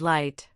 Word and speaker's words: light: It is silent in words like though, through and light. But it stubbornly makes an sound in words like laugh, enough, and tough.